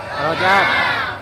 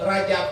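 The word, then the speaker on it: رجب: Nu bener Rajab apa Rojab? Rojab. Roj. Tapi teu kudu riweuh nyebut Rajab mangga Rojab oge.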